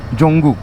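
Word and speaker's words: Dzongu: जोंगू, यहाँ के लोग उसको जोंगू बोलते हैं। The D is silent in that one.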